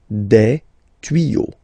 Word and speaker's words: tuyaux: Same rule here, you won't add S at the end, but instead of S you will put X, okay? Des tuyaux. Same rule, you don't pronounce it.